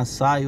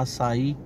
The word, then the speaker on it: açaí: né o atacado açai UMS chama açai outros chama açaí né a pronúncia certa mesmo é açaí mas tem muitos que chama de Açai né Vamos passar aqui